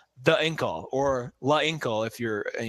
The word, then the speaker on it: Incal: If you spell Inkle. INCAL. So Inkal, there's different pronunciations.